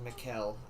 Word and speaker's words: Mikhail: then k-a-l-a-s-h n-i-k-o-v okay so his name is mikel okay fair enough i thought it was like michaela or something november 10th 1919 to december 23rd 2013.